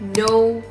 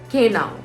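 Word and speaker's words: know: So it's not k now, it's no, it's not listen, it's listen. It's not debted, it's debt.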